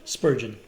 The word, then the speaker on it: Spurgeon: Spurgeon.